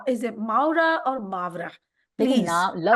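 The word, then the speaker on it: Mawra: How am I pronouncing Is it Maura or Mavra? देखिए Please, नाम लफ्ज तो उसका जो नाम है मावरा है, मावरा Mavra.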